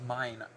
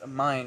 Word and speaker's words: Mine: on the wiki it's it's mine like this is mine no like that water